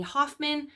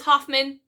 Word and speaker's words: Hofmann: an pattern by Jamie Hoffman I don't know what happened to me last time but I was just determined to get her name wrong it is Hofmann she is natasa fee